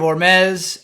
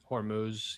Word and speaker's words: Hormuz: impacting the straight of Hormes. How am I pronouncing that? Correctly, incorrectly. I'm not H or what? Hormuz. Yeah. Hormuz. Hormes. Tomato. Tomato.